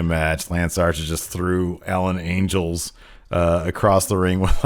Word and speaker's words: Alan Angels: Lance Archer Jake Roberts is his client versus Alan angels Jericho kept on getting his name wrong that's a classic Tirico thing man oh that was good he called Oh what did he call him Alan angles yeah yeah and a couple other things man